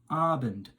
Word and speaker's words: Abend: Additionally, if you're talking to somebody in the evening, then you have Guten Abend. Now, focus on the emphasis on the strain on that A sound at the start of Abend, which means evening.